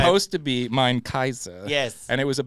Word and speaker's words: Caesar: but most likely Latin, like the AE is pronounced I in Roman Latin. So Right. it'd be Eyes, and the C is probably hard. So it's Kaiser. Kaiser.